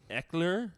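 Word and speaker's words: Ekeler: Brown, Joe Mixon, Austin Eckler. Okay, I know him. Is that how you pronounce that?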